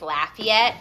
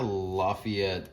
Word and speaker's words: Lafayette: there's there's like a lafayette indiana maybe i wonder how they say it if you're from indiana tell us how you say indiana's lafayette you could call that lafayette but in louisiana it's lafayette louisiana it's lafayette okay